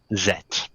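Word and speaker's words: Zedt: Zed. Yes, same. Zed. Oh, I blame us being high up in the tree. Still. It's Z-E-D-T. The D is silent.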